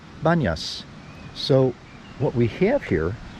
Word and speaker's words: Banias: corrupted by the Arabic in Arabic it's hard for Arabs to pronounce be at the beginning of words so pontius becomes bun yes so what we have